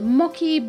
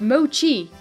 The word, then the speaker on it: mochi: a balloon on it the Maquis burn up no it's mochi you guys keep telling